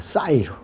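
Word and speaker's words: שעיר: 마귀들이라고 하는 이 말이요, 이 히브리어는 사이르라고 발음합니다. 사이르.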